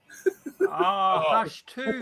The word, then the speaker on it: Hush 2: Don't Hush too. That's how you say it because they write it.